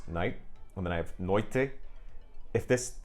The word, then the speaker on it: noite: noche, whereas I have in Portuguese noite, which that's just Brazilian pronunciation actually, and in Portugal I think it would be something like noite.